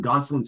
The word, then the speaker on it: Gonsolin: They did it with Gonsolin. So did I pronounce it wrong there, or did I get it right?